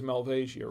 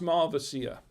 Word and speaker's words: Malvasia: bianca i know it looks like it says malvasia right it's mel it's pronounced malvacia melvacia so this is the um the wine